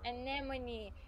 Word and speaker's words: anemone: Anemone.